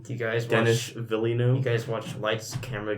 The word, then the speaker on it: Villeneuve: Villeneuve. You guys watch Lights, Camera, Jackson? What? No. Lights, Camera, Jackson. No, I watched LazyTown. Oh, it's a good show. He pronounced it Denis Villeneuve.